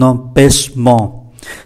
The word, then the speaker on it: empêchement: 16, mais j'ai un empêchement. Trước hết chúng ta để ý cách đọc, CH phải uốn lưỡi, M đứng trước P thì phát âm là N, empêchement, và đây là hai âm mũi, empêchement.